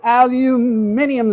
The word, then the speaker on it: aluminium: Aluminium. Adding a whole another syllable that I don't see in the word.